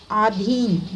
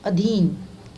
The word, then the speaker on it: अधीन: आधीन नहीं, अधीन।